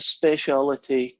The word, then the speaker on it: speciality: that word especially yeah my wife says I pronounce too many syllables it's a habit of home each speak that's how you would see it in Scotland that's how you see it in brain anyway the manager of